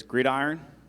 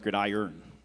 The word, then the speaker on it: gridiron: Your word is gridiron. Could also be pronounced gridiron.